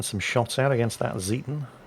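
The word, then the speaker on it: Zieten: shots out against that zetan I pronounced it zeiten at first which is horribly horribly wrong and all the Germans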